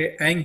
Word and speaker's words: ऐंग: माथे पर पिंच करके ऐंग बीज मंत्र का उच्चारण करें। याद रखें, AING लिखने के लिए हो जाता है। इसको हम बोलेंगे तो नाक से बोलते हैं, इस तरीके से बोलेंगे ऐंग ऐंग ऐंग ऐंग ऐंग ऐंग ऐंग।